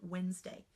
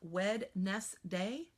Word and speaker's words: Wednesday: remember a silent letter it is exactly the same thing we do when we think the word Wednesday I don't know do you think Wed nest day when you go to space you know spell the word Wed nest we don't say it that way yeah I'll meet you next wet nest day we don't say it that way but that's how it's spelled so we think in